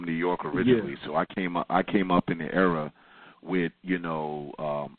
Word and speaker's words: Cambatta: My name is Cam. So Cam rhymes with Bam.